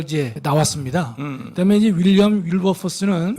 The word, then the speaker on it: 윌버포스: 목사님 다 잘하셨는데 그 윌리엄 그 우리 월드포스 우리 목사님 그 발음이 목사님 저거 발음이 뭐 월포스라고 약하죠, 하기도 그렇죠? 하고 근데 월드포스라고 윌리엄 윌버포스 윌버포스. 치실 때는 이제 윌버포스인데 뭐 윌버포스나 월드포스나 다 알아들 수 있지만 윌리엄 윌버포스 이